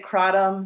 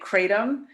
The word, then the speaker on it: kratom: 2014 when i first discovered now remember people pronounce it differently some people say crotum some people say kratom and in southeast asia it's origin they say qatam so there's no wrong way to say it